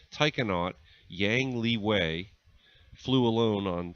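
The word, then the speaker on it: taikonaut: a human into space Tai cannot for those of you not familiar with that term astronaut in Chinese is pronounced I cannot or that's the equivalent word that they use Tai cannot Yang Liwei flew alone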